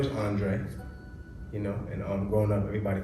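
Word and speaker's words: Andrae: Well, my name is Andre, and growing up, everybody called me Drae, for short. But it's spelled A-N-D-R-A-E.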